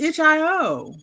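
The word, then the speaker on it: itch.io: well how do people say it ichio I thought it was itch i o everybody that I've heard said say it says ichio oh like you you sound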